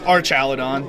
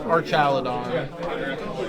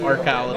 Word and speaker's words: Archaludon: It's Archaludon, right? There's an H, it's Arch. It's Arch? Yes, Yeah. it's like an arch, like a There's bridge. an H, so it's Archaludon. It's Archaludon.